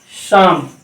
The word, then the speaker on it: psalm: फिर आप देखिए एस के पहले आ रहा हो, जैसे PSALM, ये पढ़ा जाएगा शाम।